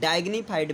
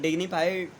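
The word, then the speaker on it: dignified: इसके साथ में डिग्निफाइड, या कुछ लोग इसको डाइग्निफाइड भी कहते हैं, डोंट वरी, प्रोनाउंसिएशन में भी differ, but डिग्निफाइड is correct.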